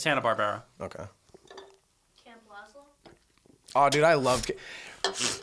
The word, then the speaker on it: Hanna-Barbera: what other shows uh is it Barbera I thought it was Hannah Barbara I don't know whatever I'm just Tom and Jerry I'm mispronouncing everything yeah Barbera yeah it's Hannah Barbera okay oh dude I